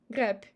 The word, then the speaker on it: грабь: Also, we have devocalized b in word грабь, грабь. As you see, it's soft sign and it's end of the word, that's why we pronounce b as p, as p.